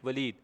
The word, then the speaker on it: Waleed: Enter password में जाके मेरा नाम लिखें WALEED, वलीद, छोटे स्पेलिंग में।